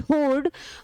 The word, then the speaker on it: hoard: चलिए कंफ्यूजेबल वर्ड HOARD होर्ड और HORDE होर्ड, दोनों का सेम प्रोनाउंसिएशन।